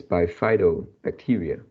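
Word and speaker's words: bifidobacteria: dictionary apps and uh it is pronounced as bifido bacteria yeah uh because i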